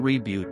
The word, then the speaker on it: Revuelto: thank you Lamborghini revuelto the Lamborghini revuelto Spanish pronunciation reboot was a mid-engine plug